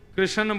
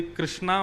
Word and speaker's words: कृष्ण: बंधुओं, कई लोग इस नाम को अशुद्ध बोलते हैं, कई लोग कृष्ण बोलते हैं, कई लोग कृष्ण बोलते हैं, कोई कृष्णा बोलता है। भगवान का नाम शुद्ध उच्चारण करो। नाम क्या है? कृष्ण, भगवान, जय श्री कृष्ण।